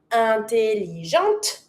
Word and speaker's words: intelligente: So, because I'm not pronouncing my e, I have to pronounce my t but it's feminine.